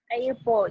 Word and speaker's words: airport: Airport. Airport. Ini ya, saya kasih tahu ya, airport. Airport ini adalah stressnya di port.